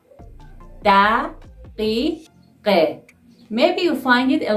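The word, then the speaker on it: دقیقه: O means and, plus daqiqe, daqiqe.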